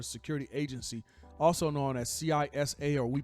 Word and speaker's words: CISA: cyber security infrastructure Security Agency also known as cisa or we pronounce it cesa uh the alert noted that R has has